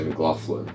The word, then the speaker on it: McLaughlin: But you French guys, you always say McLaughlin, which is What's a GH? Yeah, well, and the Americans say it as well like that. Yeah, so they do. Like, it's, you just got to remember the lock.